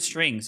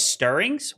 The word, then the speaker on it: Stirrings: I'm saying it wrong. Putrid strings. Is that not what the card's called? you. Oh, it's stirrings. Wow. I did not know that actually. I did not know it's stirrings.